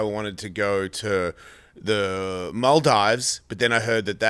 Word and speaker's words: Maldives: Maldives is it's down there. You say Maldives? Am I saying it wrong? No, you're saying the Australian way.